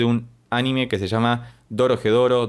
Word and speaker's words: Dorohedoro: la introducción de un anime que se llama Dorohedoro, Dodogedoro, siempre lo pronuncio mal, pero va a estar apareciendo por ahí la imagen y que te recomiendo que veas porque es buenísimo.